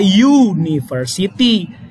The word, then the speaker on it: university: Cara bacanya university. U dengan Y duluan. Berarti Y kan konsonan.